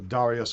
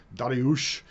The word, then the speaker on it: Darius: So Darius, or Dariush, as his name would be more correctly pronounced, the third.